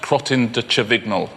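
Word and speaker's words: Crottin de Chavignol: 7,250 very very well done the cro chol that's excellent isn't it that jackpot is really going up higher and higher so how do you how do you pronounce it again it's actually pronounced crotin chol that's what it is yeah no it comes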